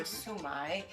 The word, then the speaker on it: shumai: So they actually have so China is where the shumai or sumai, and then the English translation is shumai. Okay. But sumai is really how most Chinese cultures like pronounce it and they make it.